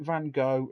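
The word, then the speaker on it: Van Gogh: Did you know in his life Vincent Van and some people pronounce it Van Go, some people say go?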